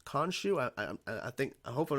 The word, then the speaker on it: Khonshu: I believe it's Khonshu is how you pronounce Khonshu.